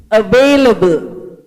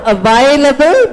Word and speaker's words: available: Please pronounce available. Not available, but available. A. The sound is not I, the sound is A.